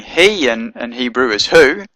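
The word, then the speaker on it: היא: Herrick at the bottom so you know to pronounce it he and not who you have to look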